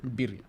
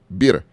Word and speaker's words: birria: Hey, Marcos helped me out because he introduced me to the, how you say it again? Birria. Birria. Yeah. Birria. Birria. Birria. Just call it birria. That's your best No. bet. Just Birria.